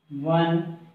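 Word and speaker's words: one: आ रहा है तो लेकिन इसका जो प्रोनाउंसिएशन है उच्चारण है वो हिंदी के कॉन्सोनेंट की साउंड में आ रही है तो इसलिए उससे पहले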